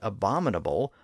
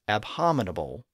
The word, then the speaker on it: abominable: armato by saying that he pronounces the word abominable like that like we do today rather than the way it should be pronounced which he says is abominable in the play his